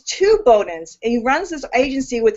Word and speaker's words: Bowden: we we pron we're we're Southern so we pronounce it Bowen it's there you go